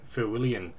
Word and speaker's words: Feuillien: It's St. Feuillien, I believe it's pronounced. It doesn't sound as it actually reads in English.